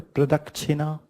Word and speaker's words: Pradakshina: Pronunciation would be the Pradakshina path.